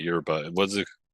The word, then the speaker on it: yerba: But Argentinians and people from the river plate which is like Uruguay and like Wenocades and that whole area they say sha instead of instead of ya.